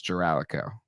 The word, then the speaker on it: Giralico: I think it's Giralico. It is. He said you got it.